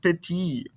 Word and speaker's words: petit: Let's start off with petit. So again, we memorize this masculine singular form of the adjective. And remember, we don't pronounce the ending consonant here. This T, I don't want to hear it.